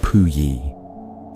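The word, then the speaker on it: Puyi: The last emperor of China was a child named Pui, pronounced Pui.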